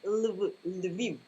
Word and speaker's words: Lviv: fact it is Lviv. Lviv. Lviv. Cities that are hard to pronounce.